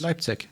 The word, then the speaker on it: Leipzig: DreamHack Leipzig. First of all, are we saying it right? Normally we butcher the names of German cities. Leipzig. Yeah. Leipzig. Excellent.